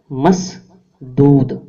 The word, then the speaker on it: مسدود: گیا، بند کیا گیا، رکا ہوا، گھیرا ہوا۔ تلفظ مسدود۔ انگریزی زبان میں بائنڈ تھا، عبرانی زبان میں